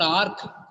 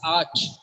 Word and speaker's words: arch: wolf not wolf wolf it's not Ark sometimes people use Ark it's Arch the last s is CH not C Arch Arch right August